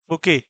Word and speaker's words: बुके: Flowers is known as बुके, है ना। जबकि लिखा क्या जाता है, इसकी स्पेलिंग भी जैसे पूछी जाती है तो ध्यान रखिएगा कि प्रोनाउंसिएशन कुछ होता है और राइट कुछ किया जाता है।